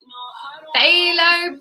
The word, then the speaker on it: Phthalo: Phthalo blue. PHT. Halo's our favourite. PHT. Halo. That's how you spell it.